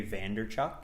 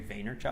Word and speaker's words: Vaynerchuk: Gary B's name wrong he's called him Gary Vander Chuck its Gary Vaynerchuk owner yeah and I